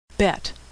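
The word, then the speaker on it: בית: a in Apple olive bette which is pronounced B as in boy or v as in victory native speakers know which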